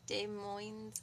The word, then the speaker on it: Des Moines: them that is awesome what's silent s o okay so it's Des Moines I'm doing it so